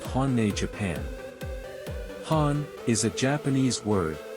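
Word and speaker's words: 本音: Han is a Japanese word pronounced hani and it means what people really think, not the polite version.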